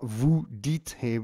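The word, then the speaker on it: vous dites: tell dear jedi now interestingly we've got vu dt without an ez this is one of only three verbs in the whole of the french language which does not use ez at the end of the vu form so it's just a silent e s you might not think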